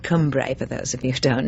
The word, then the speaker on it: Cumbrae: That's on a little island in the mouth of the Clyde called Cumbrae, for those of you don't know it. Or should I say, "Cumbrae" as the locals would have us pronounce it, anyway.